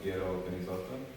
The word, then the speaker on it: Piero Penizzotto: Yeah, I mean, there's like, I guess everyone has their own way of saying it, but my mom's like Piero Penizzotto.